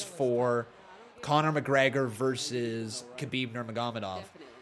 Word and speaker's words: Nurmagomedov: Conor McGregor versus Khabib Nurmagomedov. And Nurmagomedov. That's how you pronounce it. Nurmagomedov.